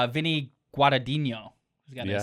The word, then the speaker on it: Guadagnino: Vinny Guadagnino. He's got Yeah. a silent G in there. He's got a silent and a non-silent.